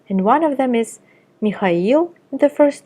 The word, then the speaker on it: Mikhail: Be careful though, there are some exceptions, and one of them is Mikhail in the first name and Mikhailovich in the patronymic.